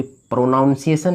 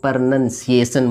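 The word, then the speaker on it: pronunciation: और पिछले वाले वीडियो में मैं बता चुका हूँ कि प्रोनाउंसिएशन नहीं बोलेंगे, इसको प्रोनंसिएशन बोलेंगे।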